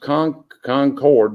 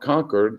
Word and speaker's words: Concord: in concord north carolina that is pronounced concord not conquered like they say it from in massachusetts up north which is